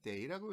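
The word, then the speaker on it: 得: 자취 채택하다, 취하다, 데이 조동사일 때는 데이라고 읽어요.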